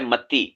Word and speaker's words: متی: اعراب ڈال دیں، کیونکہ میں نے کئی علماء کو دیکھا ہے وہ متا پڑھ رہے ہوتے ہیں، یعنی متی کو متا.